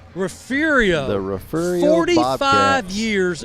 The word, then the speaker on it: Refugio: Refugio, 45 years of consecutive winning seasons. Holy moly. That is amazing. Hey, and you pronounced it right.